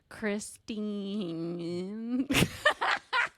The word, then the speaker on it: Christine: yeah so is mine Chris you have two syllables I actually was just thinking about that while we did our intro so weird cuz there's nine letters you have more letters than I do I've got seven I know that's why I was saying it's weird that it's only two syllables Chris Christine um